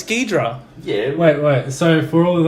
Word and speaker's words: Ghidorah: King Ghidorah, who people just call him Hydra, but get your shit right, it's King Ghidorah.